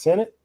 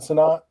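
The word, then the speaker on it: Sinnett: it really matters but I think it's Senate not sonat I could be wrong all the Washington media I've heard have pronounced it Senate um but is there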